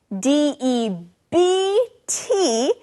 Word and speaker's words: debt: to someone now friends this word debt d e BT is spelled with a be but we don't actually say the be we just say debt that's right now to